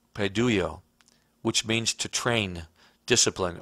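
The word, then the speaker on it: παιδεύω: are also chase and pronounced in the Greek padoo yo which means to Train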